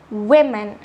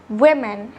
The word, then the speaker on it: women: you woman woman however the plural form is also written with the letter O but pronounced with the letter i women women what do you call